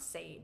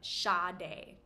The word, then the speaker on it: Sade: This R&B jazz singer, songwriter, amazing artist is pronounced Sade. Not Sade, but Sade.